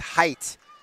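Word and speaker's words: Heydt: Batter will be Hannah Height. Again, pronounced Height even though it's spelled H E Y Dt entering the dugout over there.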